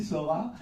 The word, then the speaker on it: Sor4: Il y a une petite astuce en plus dans l'écriture, hein, parce que ça s'écrit Sor 4. Nous, tout bêtement, évidemment, animateur radio, Sor 4, ouais, en fait c'est Sora.